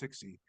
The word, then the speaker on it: Cixi: It's Cixi. It's pronounced Sixi.